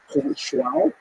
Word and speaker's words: João: He's appointed to be the royal astronomer to King João II. I really like pronouncing that name, João. And sometimes in certain texts it's rendered as John, just to make it easy. But it's João.